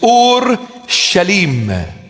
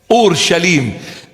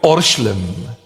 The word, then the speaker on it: Ur-Shalim: In Aramaic, the proper pronunciation of the word is Ur-Shalim. Ur-Shalim. And we abbreviate it and we call it Orshlim.